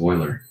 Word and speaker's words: Euler: Pronounced Euler.